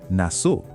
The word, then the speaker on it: na so: Together, na so. That's how it is. Pronunciation, na so. Keep it short and crisp.